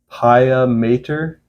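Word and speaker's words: Piah Mater: band I should have looked up how to pronounce their name before I made this video it's paa Mater p i a h space m a t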